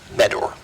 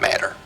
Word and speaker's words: Meador: Meador, not Matter.